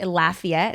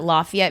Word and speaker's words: Lafayette: It's funny because I pronounce it Lafayette because my college town in California was called Lafayette. Lafayette? Or I'm sure it's Lafayette, maybe. Everybody says it different. Lafayette for Louisiana. Some people say Lafayette, and I'm like, oh, that's a weird one.